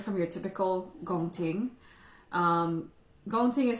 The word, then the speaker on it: Gong Ting: We've got Gong Ting, which is the highest grade on the table. It's a grade of Pu'erh that's mostly the buds. For those of you who've had Gong Ting before, this one looks extremely budsy.